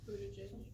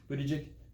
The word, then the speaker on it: Buttigieg: Buttigieg. Mayor Pete Buttigieg.